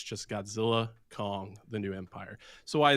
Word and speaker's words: Godzilla x Kong: Wingard, the director, came out and said that the X is silent. So it's just Godzilla, Kong, the new empire.